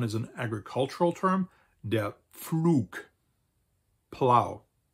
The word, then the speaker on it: Pflug: The next one is an agricultural term, der Pflug, plow.